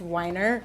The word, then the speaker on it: Weiner: yes Anthony Weiner and I cannot say that last name who I believe I truly believe it's pronounced Wier but no they I think they're saying I think because of the circumstances I think weer is just I mean I think